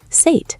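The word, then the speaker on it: Suid: The ui is that tricky sound again, like A mixed with ow. "Sate," Elias tried.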